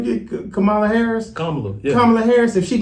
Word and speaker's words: Kamala: So we were gonna ask, how you pronounce the name again? Kamala Harris. Kamala, yeah.